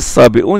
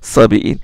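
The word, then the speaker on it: الصابئون: Il doit se prononcer sabi'un et non pas sabi'in.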